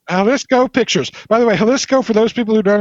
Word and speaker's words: Jalisco: It does not sound like it's spelled with a J, but it's spelled with a freaking J.